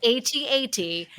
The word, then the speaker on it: AT-AT: to be someone's Insight joke on how we pronounce at at because I know oh we're supposed to pronounce it A8 someone's like no we're not I know that's what that's what they told I think that's what somebody at Lucas fil told me how I was supposed to pronounce it I still say at at and here we finally